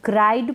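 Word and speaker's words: cried: अराइव्ड क्या है अराइव्ड इसको क्राइड पढ़ेंगे क्रीड ना पढ़े इसको पढ़ेंगे फिल्ड क्या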